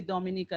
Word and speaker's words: Dominica: so moving along um Dominica and it is pronounced Dom so for continuation we say Dominica that's the official name which is the Commonwealth